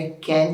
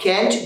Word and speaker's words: can't: आज का लेक्चर है, आज का टॉपिक है कैंट हेल्प. अब कैंट बेसिकली जो है वो अमेरिकन प्रोनाउंस करते हैं, यू में प्रोनाउंस लाइक कांट. जो ब्रिटिश हैं वो कांट पढ़ते हैं, जो अमेरिकन है वो कैंट पढ़ते हैं.